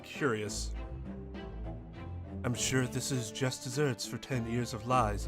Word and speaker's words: just deserts: like i say it is just desserts but you're right is desserts it's spelled with two s's i never but i also think dog is right in that that's how it spelled which means it would be just deserts but that's not how anybody says it wait so why